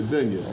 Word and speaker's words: dunya: Nigga, I'm not falling back into the dunya, the dooney, did I pronounce it right? You said it right, great, the dunya.